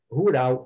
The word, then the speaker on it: rural: Rural, em inglês, escreve exatamente como escreve em português. Só que a pronúncia é rural. É um latido quase. É quase que um latido, tá?